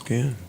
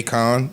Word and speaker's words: Cannes: this in Cannes. Because this is the first single I'm underwhelmed. At a If it's just a Spotify song she's event. putting out, it's fine. Yeah. Is that how you pronounce Ken?